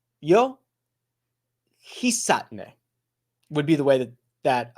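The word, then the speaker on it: Hisatsune: The most recent one I'm going to go with is Hisatne. Hisatne. The Su's very low. You hit the sat. Yo. Hisatne would be the way that I should say it.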